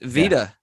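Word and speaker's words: Wieder: capacity before taglia became carlos wyder or vedir i don't know how to pronounce it depends on where the e is i'd have to look um i forgot you speak german don't you yeah so it's veda i know so i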